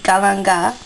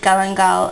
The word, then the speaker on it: galangal: one piece of the galanga I pronounced it galangal and um I think that was wrong cuz the guy in the Thai grocery store didn't seem to pronounce the L and um fresh ginger